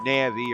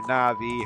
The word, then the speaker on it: Navi: to be explained somehow the Navy or Navi however you pronounce her name I've heard it pronounce both ways no it was how